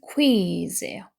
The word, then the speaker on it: quiz: 그래서 safety 하면 안전이라는 명사하고 그다음에 quiz인데 여기 보면 발음 기호가 KWIZ 이렇게 있죠. 그럼 이거는 is 이렇게 발음이 되거든요. 그래서 퀴즈가 아니고 quiz 이렇게 읽어주셔야 돼요.